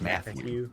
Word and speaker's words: Matthew: Do you think it's weird that Matthew has 2 T's in it? Nah, it's fine. I was thinking about that. I'm like, oh, that's weird. You don't like pronounce that other T at all. It's just Matthew.